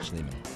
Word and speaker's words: Schliemann: Schliemann.